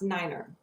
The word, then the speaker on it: nine: five is pronounced F the number nine is is pronounced Niner so instead of saying